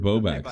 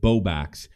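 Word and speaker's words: Bowblax: Do you know who the YouTuber Boax is? There's a few, darling. Bob for the Sorry, I I pronounced it wrong. The YouTuber Bobax.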